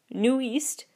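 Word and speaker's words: NU'EST: to work with here new East spelled that it looks like newest but it's new East Nu apostrophe EST stands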